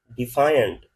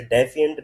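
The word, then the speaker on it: defiant: Pronounce किया जाता है। इसे इरेनियंस डिफाइंट ये डिफाई से निकला। इसे डेफिएंट नहीं पढ़ना।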